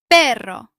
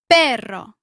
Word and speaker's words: Perro: Perro. Try the strong double R. Your turn. Perro.